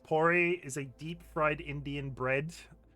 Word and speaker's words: puri: Puris, pronounced pori, is a deep-fried Indian bread.